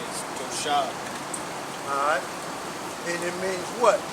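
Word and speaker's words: תושב: Strong's H, 8453, and the pronunciation is Toshab.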